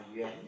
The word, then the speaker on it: 员: Cái này bạn đọc là yuán nhé.